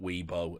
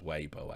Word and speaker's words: Weibo: from now on because i just call it weebo and many people have said richard that's really offensive uh you're conflating japanese culture and chinese culture with your stupid mispronunciations but i've always just called it weebo but it is weibo i guess and 10 in pulling